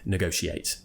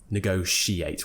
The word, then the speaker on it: negotiate: pronunciation negotiate or negotiate now me personally and most of the public will say negotiate negotiate with the shirt sound it's more of an